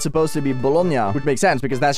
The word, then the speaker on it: bologna: different thing the thing about the thing about baloney though is that that's just the bastardization of the word itself because it's not pronounced that in Italian like it makes complete